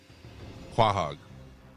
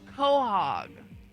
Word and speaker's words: quahog: Quahog. Isn't that where Family Guy lives? Yeah. A thick-shelled edible clam. Muskog. A blog. How the plate of ball, please. You were close, Mike. It's quahog.